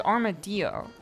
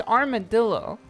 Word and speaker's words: armadillo: creature you know the armored uh rodent I pronounce it as armadio cuz it's a Spanish word it's a Spanish animal and it's a Spanish word KK says it's armadillo now it's definitely heard armadillo more but I